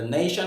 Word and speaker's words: nation: A nation is a place, right? So being a noun with two syllables, the stress goes on the first syllable, nation.